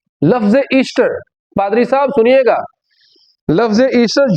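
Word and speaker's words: Eostre: देखो उसका नाम था पादरी साहब जो एंग्लो सेक्शन देवी थी उसका नाम ईस्ट्रो था ईस्टर नहीं था और उसके स्पेलिंग में भी फर्क है ठीक है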